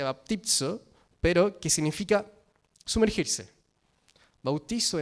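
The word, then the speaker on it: βαπτίζω: Es importante que la palabra bautizo la podamos entender desde el griego, que se pronuncia baptizo, pero que significa sumergirse.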